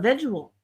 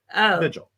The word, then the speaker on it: vigil: know an a visual what did I say visual VI sorry it's a visual this is well that's how so many people pronounce it I did not realize what a mispronounced word that it's probably just got into your subconscious vigil I know VI I know I don't know why I didn't realize it was such a mispronounced word until well you know